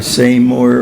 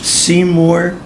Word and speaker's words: Seymour: It doesn't matter whether you say Seymour or Seymour or Seymour, and it doesn't matter if you say Bernstein or Bernstein. It doesn't matter at all. Some people say either or either. There's a question about how to pronounce that. Actually, I call myself Seymour Bernstein.